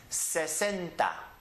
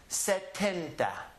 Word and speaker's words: setenta: set gente c'è tenta the only difference between these two numbers is that one letter right here Sesenta setenta Sesenta setenta so you have to be very careful when you're pronouncing those two very carefully enunciate the s are the T to clearly understand if someone is saying Sesenta which is 60 and said Penta which is 70 the next one is